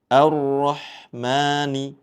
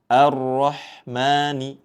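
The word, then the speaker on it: الرحمن: Ar-Rahmani. Ya. A di awal dibaca tipis. Jangan sampai ikut dibaca tebal. Di sini ya. A. Ar-Rahmani.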